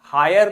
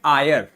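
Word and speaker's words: heir: पढ़ेंगे हम हायर नहीं य एच सो रहा है एच साइलेंट है एच को नहीं बोलेंगे हम बोलेंगे आयर क्या बोलेंगे बच्चों आयर बोलेंगे ध्यान दीजिएगा इसको हायर नहीं पढ़ते हैं इसको आयर पढ़ते हैं हायर कौन सा होता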